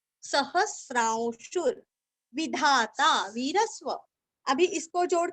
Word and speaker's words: सहस्रांशुर: आघात अविज्ञाता सहस्रांशु अभी स्रा के ऊपर जो अनुस्वार है ना उसका उच्चारण औ के जैसे करना है औ सहस्रांशुर आगे का जो वी के ऊपर जो रफार है वो हमें शु को रस्व शु को जोड़ के लेना है शुर सहस्रांशुर सहस्रांशुर विधाता वीरस्व अभी